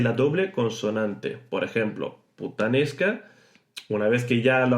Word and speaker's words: puttanesca: Puttanesca. Exagerad sin problema. Luego, poco a poco, iréis normalizando este tipo de pronunciación y ya no será puttanesca, sino puttanesca. Así más rápido, puttanesca.